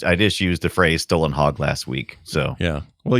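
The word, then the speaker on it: Stålenhag: He says, "For future reference, the closest way for an American to pronounce Stalinhog correctly would basically to say Stolenhog.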